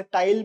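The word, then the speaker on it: taille: बट एज़ फार एज़ I know French pronunciation में एल को उतना ज्यादा प्रोनाउंस नहीं करते। इट वुड बी टे in French if आई am right but we don't care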